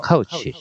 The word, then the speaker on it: couch: 카우치라고 발음합니다. 코치 아니에요. 카우치. 싱크는 가라앉다.